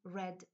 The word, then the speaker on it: read: przeszłym w trzeciej formie wymawiamy ten czasownik jak czerwony czyli Red thread i kolejna kategoria